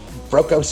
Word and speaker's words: Brokos: Is that the correct pronunciation? Brokos? That is, Brokos is correct.